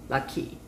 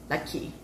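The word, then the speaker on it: Rocky: really good um so it's really like lucky how he pronounced his name because that's how they are saying it so like lucky it's not even with an r sound because like in korea they don't have like an r sound it's like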